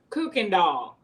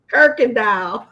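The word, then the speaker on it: Kuykendahl: What is the street name? Kirkendall. It ain't no fantasy. It's spelled ebonically. Exactly. Yeah, it's spelled ebonically. Because when I saw add letters that ain't there. Right. And I'm It's like, that solid R.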